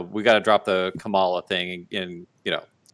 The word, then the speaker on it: Kamala: hard of hearing uh it's comma like a comma like like in a sentence so and you pronounce